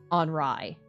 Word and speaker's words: Henri: So, AI with the upward to the right pointing thing is Henri. That's pronounced like just an I.